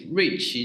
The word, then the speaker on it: Ruiqi: myself my name is rich you can simply call me rich whose pronunciation is pretty close to my chinese first name i got my bachelor